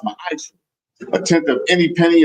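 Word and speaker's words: מַעֲשֵׂר: You can find this in Numbers 18:21, Malachi 3:8-10 means 10th in the Hebrew, and it's pronounced ma'ash.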